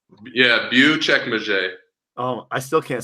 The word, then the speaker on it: Büyükçekmece: like everyone was so surprised, but it's called Büyükçekmece. They're Wow. C's, there's Yeah. C's and A's. It's crazy. It's like Latin and French, like deriven of the language out here. So like it's crazy. Uchekmache. Yeah, Büyükçekmece.